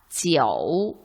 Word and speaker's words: jiu: 가운데 오어를 생략하고 가운데 운모를 생략하고 표기한 것이 맞겠죠? 아래쪽 어떻게 읽습니까? 지어우 라고 읽죠.